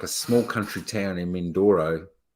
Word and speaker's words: Mindoro: Mindoro. You said Mandoro.